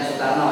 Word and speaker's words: Soekarno: Soekarno, ya, bacanya Soekarno, itu ejaan kuno.